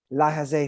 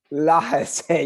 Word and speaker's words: laissez: i would consider myself more of like a la jose faire person when it comes to economics clearly